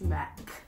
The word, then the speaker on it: Mac: It's not Max, it's Mac. It's Mac or Max. It doesn't matter. They're spelled the same. It's Mac. With a C.